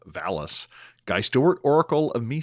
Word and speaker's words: VALIS: Christopher Phillips, Oracle of calling the book Validus instead of Valis.